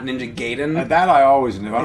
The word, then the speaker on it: Gaiden: You know, the AI is always pronounced with an I.